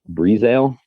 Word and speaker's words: Breazeale: I believe Breezale is how he pronounces his name.